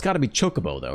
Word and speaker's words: Chocobo: Chocobo, the official pronunciation with latest voice titles.